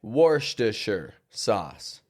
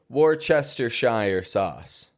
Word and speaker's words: Worcestershire sauce: and people absolutely lost their minds because it's pronounced differently in different people's accents. I say it worster sauce. Other people say it worershire sauce and others say what's your sister sauce.